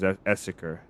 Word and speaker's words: Esseker: No, this map is Esseker. Spelled with two S's.